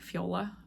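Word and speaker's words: Fjola: in the show notes it's spelled FJ o l La a like Fiola um yeah I like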